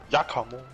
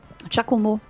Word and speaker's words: Giacomo: Jakamo, Jakamo, Jakamo. Oder wie war wohl es ausgesprochen werden? Giacomo. Giacomo, genau.